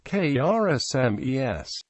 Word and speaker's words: Kiritimati: is pronounced s and the name is thus pronounced K RS smes although most non kirati people still correctly say